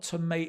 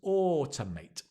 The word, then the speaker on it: automate: again notice the two it's not tomate it's not tomato tomato it's t t so it becomes automate autate slow down if you want to improve your pronunciation slow down aut mate then speed up automate automate d d